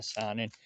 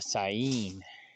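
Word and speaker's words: Saanen: I'm thinking I'm just gonna go with, I call it the Sonin, but I guess the first N is silent. I found that out last night too. It's not a Sonin, it's a Sain.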